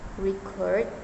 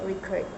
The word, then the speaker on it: record: For instance, pronouncing the word record with stress on the first syllable, record, indicates a noun, whereas stressing in the second syllable record makes it a verb.